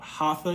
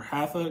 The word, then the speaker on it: hatha: you can do is called hatha yoga or hatha depending on how you like to pronounce it it's h-a-t-h-a yoga you could do this